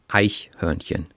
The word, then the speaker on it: Eichhörnchen: And is there a stress in the word? Is it like Eichhörnchen or Eichhörnchen or? No, it's on the first syllable. Eichhörnchen.